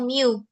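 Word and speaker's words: μ: Rata-rata bacanya mu. Nah, kalau di matematika bacanya mu.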